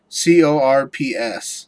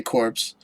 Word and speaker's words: Corps: So like, you know, like Marine Corps, how you say it like that, but it's, or you could say corpse. You could say corpse, which is what you always say. Which is wrong.